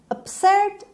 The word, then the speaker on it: absurd: خب absurd همونطور که میبینید ایش به شکل شوا تلفظ میشه absurd و استرس روی سه هست absurd. این قسمت محکم تر گفته میشه.